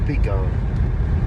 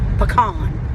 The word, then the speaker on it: pecan: it is clearly pecan. Pecan. It's not pecan. It's like you take a pea and you put it on a can. That is a pecan. Spell it. P-E-C-A-N. C-A-N is can. Okay, well, Pecan. the P-E is short. There ain't no pecan. It's pecan. Pecan.